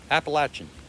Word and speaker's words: Appalachian: do you say the name of this trail appalachian very good thank you yeah here's another nice